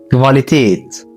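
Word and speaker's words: Qualität: بتنطق في الالماني كفا الحرف ده في الغالب بيجي بعده حرف الاو بيتنطق كفاليتيت كفاليتيت يعني الجوده حرف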